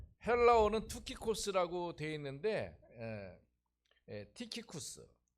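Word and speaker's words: Τυχικός: 그 헬라어는 투키코스라고 되어 있는데 티키쿠스.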